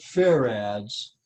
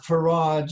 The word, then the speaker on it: farad: there you go now they pronounce it fair ads but if if you want to call it farage you go right ahead